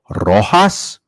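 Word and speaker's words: Rojas: Gavin Lux 9 to1 Miguel roas 10 to one the Jay is silent um hold on I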